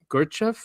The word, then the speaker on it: Gurdjieff: Just remind me, I didn't put it in here, is that philosopher in the 1900s, Gurdjieff, is how you say his name, and he